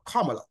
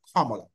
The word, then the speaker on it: Kamala: getting the impression that Kamala or comma as she desires to be called because she says her name is pronounced as comma really that K as